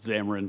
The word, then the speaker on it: Zamarin: Mr. Zamarin, is that the right way to pronounce that? Zamarin, but you're fine.